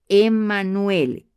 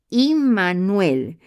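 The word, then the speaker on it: עמנואל: Concebirá, el texto se refiere a un tiempo futuro y ella lo llamará Emanuel, que en hebreo es Imanuel.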